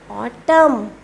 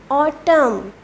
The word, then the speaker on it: autumn: Autumn. Autumn. You can clearly watch in the on the screen that in autumn N is silent.